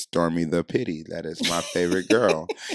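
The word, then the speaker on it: stormi_da_pitte: at s-t-o-r-m-i underscore d-a underscore p-i-t-t-e that is pronounced stormy the pity that is my favorite girl so now for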